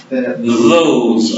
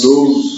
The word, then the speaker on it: those: Those are books. Those are books. Those are books. Então tem que sempre esticar mesmo. These are books. These e those tem que esticar um pouquinho.